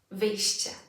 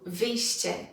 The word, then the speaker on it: wyjście: So let's look at wyjście. Cie, wyjście. Again, cie, wyjście.